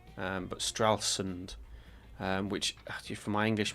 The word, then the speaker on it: Stralsund: Stralsund. I've been saying Stralsland for ages. I still want to say Stralsland, um, but Stralsund.